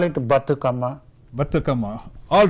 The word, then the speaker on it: Bathukamma: how do you say that we call it bhattacama bhattacama all right okay let's start off tell